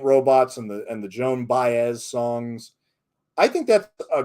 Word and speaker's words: Baez: i know i should double check how to pronounce them but i'm always in a rush doing this research so it's joan baez yes thank you joan baez yes thank you thank you berkshire valley forage